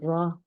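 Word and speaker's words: راء: 차이는 얘는 약간 위로 꺾여 있고 이 아이는 밑으로 약간 내려가 있는 편안하게 내려가 있는 이 아이의 발음은 라입니다. 라.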